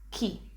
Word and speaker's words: chi: one will be key this is exactly the same sound as in the key in english the key to open